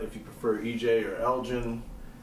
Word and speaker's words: Elgin: to spell it, if you prefer EJ or Elgin, how old you are, what you do.